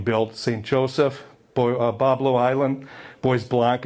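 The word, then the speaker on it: Bois Blanc: St Joseph Boblo Island Boys black is how they say it up there Pablo if you're down here which means white trees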